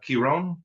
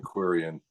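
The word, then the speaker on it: Quirion: also have a Karen Kiron I don't know if I pronounce that right it's his third album with you guys yeah that's Kevin Quan yeah Kuran thank you uh the the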